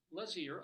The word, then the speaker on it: Lazear: Because some of these things, is it Lazear, is it whatever. It's Lazear, apparently.